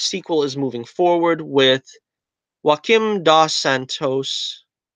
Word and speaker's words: Joaquim dos Santos: is moving forward with Joaquim dos Santos I guess I pronounce it him da Santos Avatar The Last Airbender